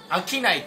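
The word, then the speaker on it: 春夏冬: 、リオの春夏冬と書いて飽きないと読みまして、飽きな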